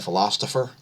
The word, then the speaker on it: Philostopher: in to eugene the philosopher and it's it's spelled p-h-i-l-o-s-t-o-p-h-e-r there's a t in there philosopher so don't get confused about that go subscribe over there